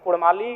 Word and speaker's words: कुड़माली: इसलिए मैं मांग करता हूं कि र के स्थान पे अड़क किया जाए क्योंकि कुड़माली साहित्य की बात करें तो अड़ का महत्वपूर्ण स्थान है जैसे काड़ा माड़ भेड़ा